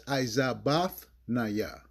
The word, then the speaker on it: IZaBathNaYa: That's IZaBathNaYa.